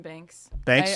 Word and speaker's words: Banks: Um, I know that's how you pronounce It's just Maline Bank, right? Maline Banks.